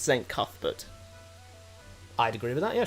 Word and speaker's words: Cuthbert: Cathbut is pronounced St. Cathut.